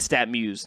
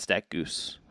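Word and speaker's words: StatMuse: the year and Brady he said stat Muse not stack Goose I believe did you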